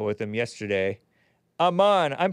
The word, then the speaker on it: Aman: AMAN, I'm pronouncing it correctly, right?